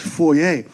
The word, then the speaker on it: foyer: Did you know that foyer is actually a French word? It's supposed to be pronounced foyer.